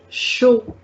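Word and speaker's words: chaud: here no we will not pronounce this last d because there is no vowel at the end yes not every time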